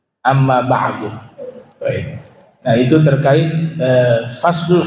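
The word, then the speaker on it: أما بعد: sekarang sudah paham tu Amma ba'du bisa kita baca Amma ba'da Amma ba'dan Amma budun atau juga Amma ba'da atau Amma ba'du tapi dalam riwayat yang sering nabi ucapkan itu dengan didomahkan Amma ba'du Nah itu terkait eh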